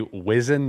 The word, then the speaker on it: Wizzin: So since we're WZZN, it should be Wizzin the Walrus, and it's spelled WZZN. Wizzin the Walrus. Wizzin spelled WZZN.